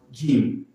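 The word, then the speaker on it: جيم: all have same shape but different in their pronunciation and their names this one is called gim G gim it has one dot below it g this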